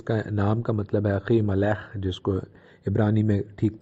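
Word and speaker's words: אחימלך: اخی ملک جس کا نام کا مطلب ہے اخی ملح، جس کو عبرانی میں ٹھیک طرح اس کا تلفظ اس طرح ہے پروننسیشن، اس کا مطلب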